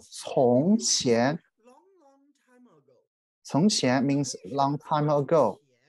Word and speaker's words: 从: We pronounce it 从.